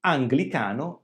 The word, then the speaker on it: anglicano: E infine abbiamo parole come anglicano, ganglio. In questo caso le consonanti G e L sono seguite dalla vocale I e non sono all'inizio di una parola. Perché non abbiamo il suono gl? Qui abbiamo l'influenza della lettera N, del suono N che si trova prima. Quindi anglicano e ganglio. La N quindi modifica l'articolazione del suono e quindi non potremmo dire anglicano o ganglio.